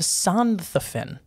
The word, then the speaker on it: Sonthofen: In the city of Sonthofen. Perfect pronunciation.